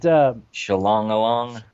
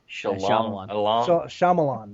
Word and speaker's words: Shyamalan: Yeah, I can't pronounce it, so I just keep fucking his name up. But Shalong-along. Shalamanon. Shyamalan.